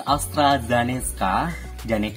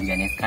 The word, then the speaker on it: AstraZeneca: Penyuntikan vaksinasi jenis AstraZeneca, ini bukan Janeska ya, ini mungkin tulisnya salah atau pengucapannya harus dibenarkan gitu kan.